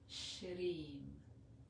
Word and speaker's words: Shreem: So again, it's a sh sound, the R with the little tip of the tongue touching behind in the little divot in our palate. That's about a centimeter behind the teeth, the front teeth. And E, a long E sound. And our with the tongue, again, the top of the tongue, this time touching the roof of our palate.